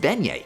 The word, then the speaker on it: beignet: Also, it's pronounced Beignet.